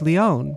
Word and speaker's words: Leone: Written as Leone, but pronounced Leone.